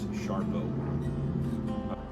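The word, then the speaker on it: Sarpo: And then the one new one that it's new to me is the Sharpo Mira. Even though it's spelled S-A-R-P-O, everybody says the way you pronounce it is Sharpo.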